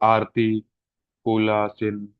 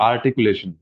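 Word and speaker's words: articulation: ठीक है, ऐसा नहीं है कि यह आर्टिकुलेशन लिखा है और आरती कूला चिन ऐसा बोल दें, तो ये क्या हो जाएगा, रॉन्ग इसका उच्चारण हो जाएगा। ठीक है, तो आर्टिकुलेशन ये इसका सही उच्चारण है, तो जो भी आप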